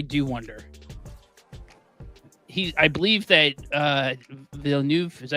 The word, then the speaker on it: Villeneuve: I believe that Villeneuve, is that how you pronounce his last name?